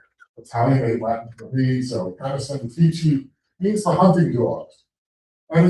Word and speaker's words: Canis Venatici: the Big Dipper called Canis Venatici. I pronounce Latin like it's Italian because years of singing in a chorus in America, we use Italianate Latin. If I were English, I might say Canis Venatici or something like that,